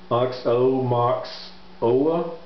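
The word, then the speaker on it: Aoxomoxoa: I'll try and pronounce it. It's a, right here's the title. It is Oxomoxoa, which it's one of those words that you can say frontwards or backwards, like auto or solos.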